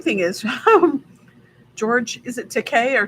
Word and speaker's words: Takei: But anyway, the funny thing is, George, is it Takei or Takai? Takei? Yeah, Takei. It rhymes with toupee.